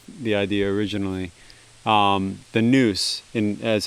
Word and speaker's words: nous: came up with the idea originally um the noose in as how it would be pronounced in ancient greek i simultaneously the way